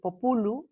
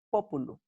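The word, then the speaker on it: pópulu: Es decir, no decir populu, sino decir populu.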